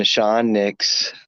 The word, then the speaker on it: Nahshon Nicks: audience uh hello uh my name is pronounced nashon nashon nix i was born in